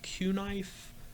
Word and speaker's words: Cunife: But it's got they call it I think they're pronounced Q-knife.